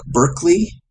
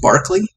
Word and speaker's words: Berkeley: And this has readings in Plato, Aristotle, Lucretius, Aquinas, Montaigne, Bacon, Descartes, Spinoza, Locke, Berkeley, I think I've heard it pronounced Barclay, Bishop Berkeley, Hume, Kant, and William James in philosophy.